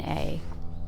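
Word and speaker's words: aye: Forever in a or I a, that's an old word, a ye." I will say a since it rhymes with day.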